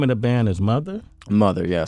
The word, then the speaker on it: MOTHXR: Mother, yeah, spelled with an X. With an X, where the E would go.